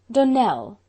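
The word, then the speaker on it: Donnell: would set it right donell accent on the last syllable and sint claire on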